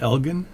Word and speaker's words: Elgin: By the way, up in Canada we call it Elgin.